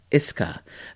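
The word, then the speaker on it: Ishii: a schinsky you know you don't pronounce to you so it's iske so tache and iske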